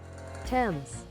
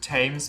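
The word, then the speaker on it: Thames: pronounce that temps okay temps temps TS they not tames but TS got it that has to be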